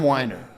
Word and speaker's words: Weiner: I've never And we're here with Winer, which is how you pronounce it.